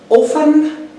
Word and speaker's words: often: adverb of frequency is often or often but generally these t's not pronounced it's a silent letter so we say often so a concept so